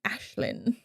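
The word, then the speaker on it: Aislinn: also um in real life her name is ashlynn ooh but it's spelled all gaelic so it's a-i-s-l-i-n yes it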